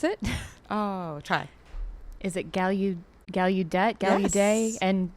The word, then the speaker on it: Gallaudet: I don't know that I know how to pronounce it. Oh, try. Is it Gallaudet? Yes. And DC? Gallaudet.